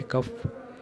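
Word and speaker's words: COF: colour के आपको नजर आ रहे हैं यह कफ है और कफ सीओ एफ कफ कहते हैं इसको इसीलिए कि इसकी स्पेलिंग है सीओ एफ कफ कफ की एविएशन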